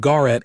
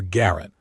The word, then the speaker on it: Garrett: Not Garret anymore, Garrett. Both syllables distinct.